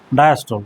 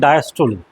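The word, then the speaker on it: diastole: সিস্টোল আর ডায়াস্টোল এই উচ্চারণটা কোনোদিন আর করবে না, বলবে সিস্টোলি ডায়াস্টোলি। তো প্রোনাউন্সিয়েশন সিস্টোল ডায়াস্টোল ভুল প্রোনাউন্সিয়েশন, যেহেতু বাংলা পড়ে এসেছিস, সিস্টোলি বলবে, ডায়াস্টোলি বলবে, নট সিস্টোল নট ডায়াস্টোল, সিস্টোলি ডায়াস্টোলি, ঠিক আছে।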